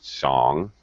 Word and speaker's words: song: Song. You don't pronounce the G.